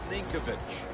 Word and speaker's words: Ninkovich: Rob Ninkovich.